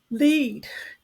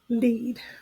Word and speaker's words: lead: someone is leading you lead rhymes with feed the next word is